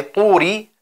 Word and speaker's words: طور: Bei Turi achten wir auf zwei Sachen. Zunächst, dass das Ta dunkel ist. Das heißt, ein Großteil der Zunge klebt am Gaumen.